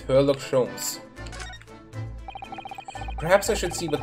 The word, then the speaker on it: Herlock Sholmes: Yes, I did not pronounce that incorrectly. It's Herlock Sholmes.